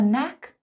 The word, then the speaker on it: knack: Number four: To have a knack for something. Notice the pronunciation, the K is silent.